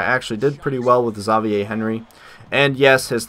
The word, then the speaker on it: Xavier: game that I actually did pretty well with zavier Henry and yes his name is pronounced zavier not Xavier because I used to call him Xavier Henry